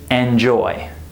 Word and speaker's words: enjoy: With this word, which syllable is stressed? Enjoy, enjoy. The second syllable, right? The first syllable is unstressed, and it's reduced. We don't say enjoy. We say enjoy. I enjoyed it. It sounds more like in, not en, right?